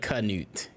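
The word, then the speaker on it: Canute: and they're getting pregnant have you seen how his name is spelled it's like g-n-a-u-t right no bro it's c-a-n-u-t yuck it's knute genus but kanute that's kind of those letters don't make any sense no letters don't letters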